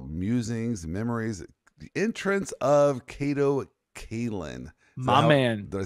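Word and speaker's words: Kato Kaelin: of OJ trial musings Memories the entrance of Kato Kaitlyn my man did I say his name correctly that time you did you did say Kato Caitlyn correctly and not Kato that's gonna be a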